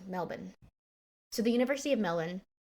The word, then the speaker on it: Melbourne: So according to the University of Melbourne, I said it wrong, Melbourne.